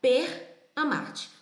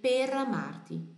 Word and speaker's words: per amarti: Mas eu tenho certeza que agora você não vai mais pronunciar per amarti. Você vai lembrar da pera. Vai pronunciar o resto, vai juntar tudo e vai dizer pera Marte, pera Marte, pera Marte, ok?